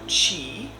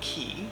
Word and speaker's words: qi: meridians are blocked or sluggish, our energy or qi, or ki, depending on which way you pronounce it, is not moving effectively through those channels.